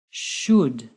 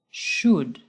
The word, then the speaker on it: should: should they all use should we do not pronounce the al and the word should listen again should should just like the other modal verbs there is never an s at the end of should he should study no this is not correct he should